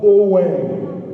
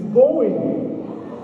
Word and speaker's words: Bowen: of orals would say, the correct pronunciation is not Bowen, it's Bowen.